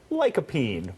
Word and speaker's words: lycopene: And tomatoes are packed with lycopene.